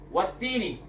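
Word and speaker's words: والتين: Wattini. Ni. Wattini. Wattini. Wattini wazzaitun. Wattini. Wattini. Ini yang benar bacanya. Yang ini yang betul.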